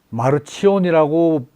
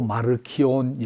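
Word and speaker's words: Marcion: 그래서 또 지난 시간도 언급되었습니다만은 이 2세기 초에 유명한 이 기독교인, 이걸 마르치온이라고 읽기도 하고 마르키온, 영어식으로 마르시온인데 제일 익숙한 이제 이 번역은 마르키온이라고 많이 해요.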